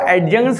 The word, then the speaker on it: adjunct: मतलब जो एडजंक्ट है, इसको एडजंक्ट नहीं, एडजंक्ट डी साइलेंट होता है।